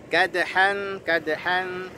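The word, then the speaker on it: كَدْحًا: Kadhan ada dal qalqalah, ya, kadhan.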